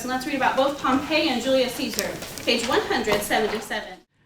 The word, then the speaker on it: Pompeii: Even before Julius Caesar started to conquer the land, there was an entire city that's spelled kind of weird. So listen to how we say it. Pompeii.